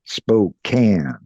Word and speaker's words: Spokane: And I've just remembered because you're in Spokane, yeah? Um, yeah. In Now I is it have to tell you, we could tell you ain't from around here because here we pronounce that Spokane. Spokane?